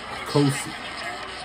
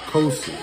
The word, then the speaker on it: Nkosi: Kosi. Kosi.